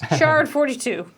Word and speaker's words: Jard42: Pronounced shard. Oh. More vegetarian sandworms, please. Shard42.